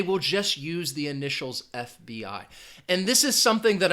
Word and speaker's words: FBI: a different category because initialism is when you use the initial letters but you're going to pronounce them individually. You're not going to say it as one word. For example, FBI.